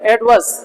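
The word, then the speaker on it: adverse: एडवर्स, एडवर्स, आर silent है, एडवर्स, एडवर्स, एडवर्स, ठीक है, आर साइलेंट है, एडवर्स।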